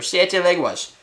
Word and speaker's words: Siete Leguas: This is called Siete Leguas, or Siete Leguas, if you want to say it correctly.